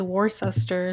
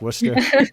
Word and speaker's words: Worcester: it like I read it as war sester or something like yeah exactly no that's Worcester that's Worcester it's a